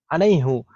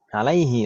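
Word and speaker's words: عليه: Alaihi, tapi dalam qiraah itu alaihu. Seperti qiraah Hafs bacanya alaihu bukan alaihi.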